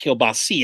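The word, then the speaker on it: kielbasa: __ ] in California you make keilbasa which is pronounced kilbas out here you make keilbasa and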